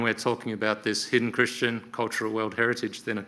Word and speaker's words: kirishitan: So I think first off, I need to start with some terminology and who are the hidden Christians anyway? And when we're talking about this hidden Christian cultural world heritage, then of course it's helpful to understand that.